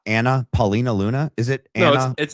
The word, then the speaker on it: Anna Paulina Luna: Is it not Anna Paulina Luna? Is it Anna Anna Anna Paulina Luna.